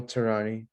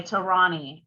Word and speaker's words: Tehrani: my name is tehrani the h is silent by the way okay tarani i'm not gonna mess